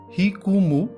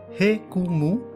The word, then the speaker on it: jicama: are warm year along jikama is pronounced hikumu or hei kumu and goes by many